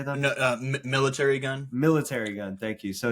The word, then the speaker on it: Military Gun: Military Gun.